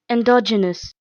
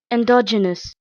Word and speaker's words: endogenous: produced from within the body let's see the pronunciation endogenous endogenous the next prefix we have ap and it